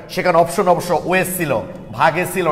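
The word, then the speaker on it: Waage: ভাগে লেখা আছে এই কারণে জার্মান ভাষায় ডাব্লু কে ভি এর মতো উচ্চারণ করা হয়। তাহলে ডাব্লুর জায়গায় তোমরা ভি বসাই দেখো উচ্চারণটা কি আসবে, ভাগে।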